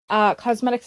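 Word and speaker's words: Causemetics: is from thrive cosmetic cosmetics is spelled c-a-u-s-e medics because it's a play on words it is a brand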